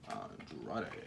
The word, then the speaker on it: Andrade: Andrade. Nobody's gonna get behind Andrade. Is that actually how his name's pronounced?